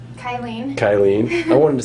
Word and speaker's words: Kylene: Kylen.